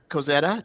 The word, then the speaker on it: Kozeta: since you brought it up, so Kozeta, did I say it correctly?